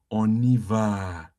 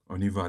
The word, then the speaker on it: on y va: On y va. Look at here. On y That is va. the English way of pronouncing it.